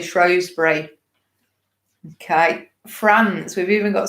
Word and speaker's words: Shrewsbury: just got coming up, Shrewsbury. Now, I've got told off because I say that wrong. Is it Shrewsbury? I always say Shrewsbury.